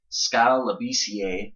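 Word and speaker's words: Skal Labissière: is the 7-foot center out of Kentucky, freshman Skal Labissiere. I think I'm pronouncing that right.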